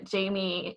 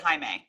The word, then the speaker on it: Jaime: Yeah, and our favorite Jamie Camel from I think it's Jaime. I think he pronounces it Jaime. It is Jaime, you're right.